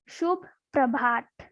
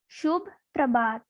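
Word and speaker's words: शुभ प्रभात: The Hindi meaning of good morning is Shubh Prabhat. How we will pronounce this word? Like Shubh Prabhat.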